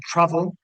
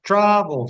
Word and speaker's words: travel: aparece un verbo como travel, que no es travel, sino travel, something like that, en la que, insisto, el acento en la sílaba tónica sería la segunda, que termina en consonante, vocal, consonante, doblaría esa consonante final.